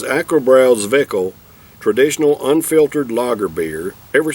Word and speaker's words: Zwickl: Now, I ain't never heard of a Zwickl. It's spelled Z-W-I-C-K-L, pronounced Zwickl.